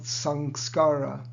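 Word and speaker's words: saṃskāra: reap and in sanskrit the proper philosophical word is called sangskara these are sanskaras so i think on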